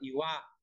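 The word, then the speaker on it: 岩: Đấy, nó là đá nhá, nó có nghĩa là đá, đọc là Iwa.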